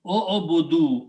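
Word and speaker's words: اعبدوا: When you have a plural, you put a waw and pronounce o-o-budu, all of you worship.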